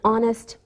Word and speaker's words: honest: sound same with an honest man we don't pronounce the h we say a university